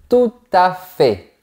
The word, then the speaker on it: tout à fait: Et on passe à l'expression tout à fait. Attention, on ne prononce pas le T.